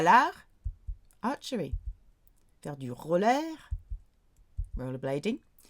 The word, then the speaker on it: l'arc: Normally you pronounce the C. at the end of words, but here you don't. Tir à l'art, like art de triomphe.